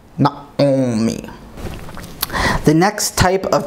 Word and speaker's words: נעמי: from this reading is the name Naomi, which in modern Hebrew would be Naomi or Noami. But here, it would be something like Naomi, Naomi.